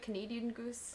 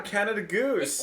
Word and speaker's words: Canada Goose: Canada Goose? Canada Goose? Am I saying it right? Canadian Goose? What the fuck is she talking about? Yeah, Canada Goose.